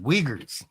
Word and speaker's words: Uyghurs: I think the Uyghurs or something is what they're called. But yeah. Uyghurs. Mm, It's okay. spelled Uyghurs, but it's pronounced Uyghurs.